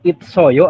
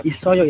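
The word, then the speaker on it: 있어요: sangsot itu kan itu bacanya itsoyo apa isoyo itu Pak dibacanya isoyo isoyo kalimatnya seperti ini ya bentar saya coba cek dulu iya Eh kalau isoyo itu kan dia berubah maksudnya berubahnya itu naik nanti ada di aturan baca teman-teman ya Jadi untuk cara membacanya dibacanya isoyo Karena dia nanti siotnya itu sang siotnya naik seperti itu Nah isoyo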